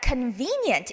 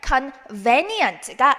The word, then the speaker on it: convenient: convenient 읽으실 때는요. convenient가 아니고요. convenient라고 읽어주셔야 됩니다.